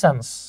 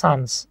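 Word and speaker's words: sons: সো আমরা এখানে দেখতে পাচ্ছি মাই আঙ্কেল হ্যাজ 3 সন্স। হ্যাঁ, মাই আঙ্কেল হ্যাজ 3 সন্স, এটা উচ্চারণ হচ্ছে সানস, সানস, সানস। ঠিক আছে, অনেকে সন্স বলে, সন্স না।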